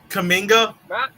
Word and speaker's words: Kuminga: Is that how you pronounce his name? Kuminga?